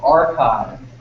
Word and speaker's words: arXiv: And also, if you're interested in reading things like this, there's a website called Archive, which is spelled different. ARXIV.